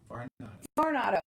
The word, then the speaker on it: Varnado: Varnado.